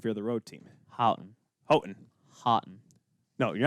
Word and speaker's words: Houghton: into if you're the road team houghton houghton hotten no you're not going to start saying every